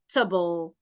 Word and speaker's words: comfortable: castle answer not answer answer our the AG is silent our comfortable not comfortable comtable stus stus doubt doubt could not Co taste